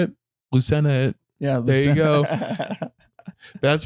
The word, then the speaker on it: Lucena: name just how do you say it Lucena yeah there you go that's very fun yeah